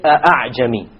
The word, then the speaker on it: أَعْجَمِي: You don't say أَعْجَمِي. Rather you pronounce it as follows. أَعْجَمِي, أَعْجَمِي. You don't pronounce it a full hamza, and you don't pronounce it as an alif, full alif. It is in between.